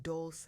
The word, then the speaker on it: Dolce: I'm your host, Dolce, pronounced doulce like sweet softness whispered in French.